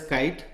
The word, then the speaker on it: Ki8: KI8 is pronounced as KITE.